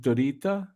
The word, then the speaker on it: Dritta: get you in right away cool is it pronounced dorita your name is it pronounced dorita yeah yeah